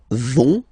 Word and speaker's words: vont: pronounce it, so ils vont, final T not pronounced, ils vont, and then feminine form, elles vont.